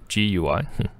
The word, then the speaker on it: GUI: us an email where they wrote gui as in g-o-o-e-y that's right which i